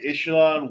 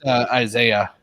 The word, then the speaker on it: Isaiah: Ishelan West Washington 62. I sorry if I mispronounced your name. One of his roles was being a one of the main surgeons in Grace Anatomy. It's Isaiah.